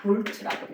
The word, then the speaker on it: 볼트: 기호도 V, 단위도 V면서 볼타인데 뭐라고 읽는다? 볼트라고 읽어요.